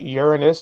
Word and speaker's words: Uranus: Notice how I pronounced that. Uranus, not the other way.